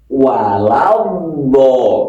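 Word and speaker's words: وَلَا الضَّالِّينَ: Sirathalladzina an'amta alaihim ghairil maghdubi alaihim waladin walad ini ada yang walabad bedd ada lagi walad ada yang lagi wal nah ini yang benar yang mana bukan yang benar yang Pas kan ini hurufnya d waladho ini ada alsyamsiah ada mad lazim ilmi mutsaqqal ya mohon diluaskan ini baru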